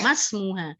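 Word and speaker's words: ما اسمنا: itu namanya Hamzah washol mungkin sebelumnya ada huruf maka Hamzah washal nya gugur bacanya masmuna tetapi ketika enggak ada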